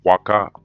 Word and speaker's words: Huaca: waka right in peru with the h but it's pronounced waka w-a-k-a just like the site so el peru also